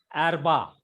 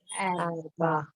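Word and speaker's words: אַרְבַּע: Because it is followed by a short vowel, therefore it is silent. It is closing the syllable. That is arba. Arba.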